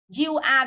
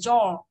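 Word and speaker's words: you're: You are viết tắt, cái này nó đọc là you are không? Không đọc thế ạ. Từ này đọc là your.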